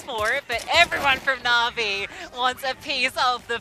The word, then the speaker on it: Na'Vi: maybe a chance for it but everyone from na'vi wants a piece of the pie na'vi I said it right there yeah you did